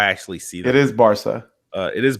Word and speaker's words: Barca: It is Barca. It is Barca.